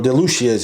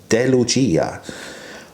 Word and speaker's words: De Lucia: on the list guys d lucia's or delusions as most people call it uh the real name the italian pronunciation is uh de lucia of the uh the